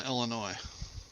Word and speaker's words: Illinois: in my hand here s is silent on illinois just so you know yes evanston evanston illinois